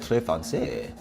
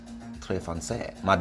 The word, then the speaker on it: très français: Oh, Trace. I don't know how that's pronounced. Hanging out with somebody fancy. Trace fancy. How do you say that? Très français. Très français.